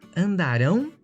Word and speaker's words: andarão: Tem uma mudança aí de sílaba tônica, né? E além da mudança de sílaba tônica, também o futuro se escreve com AO e o pretérito com AM no final.